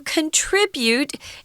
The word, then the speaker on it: contribute: What are you going to contribute is the verb form. What are you going to contribute? Where the heavy syllable is the tr, contribute, and then for contribution, it's contribution.